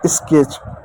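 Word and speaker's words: sketch: T silent रहेगा और T silent रहेगा। सी एच को च लिखेंगे। तो हो गया स्केच।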